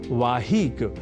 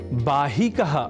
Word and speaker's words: वाहिक: हम इसी क्रम में एक और शब्द जोड़ रहे हैं और वह शब्द है वाहिक या वाहिक जिसे हम बाहिक इस रूप में भी संस्कृत ग्रंथों में प्राप्त करते हैं और हम आपको यह